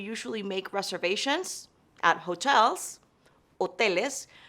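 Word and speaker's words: hoteles: make reservations at hotels Oh Telus remember the H is silent and at restaurants rest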